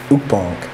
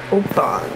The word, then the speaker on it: Ukpong: It's Ukpong. Ukpong.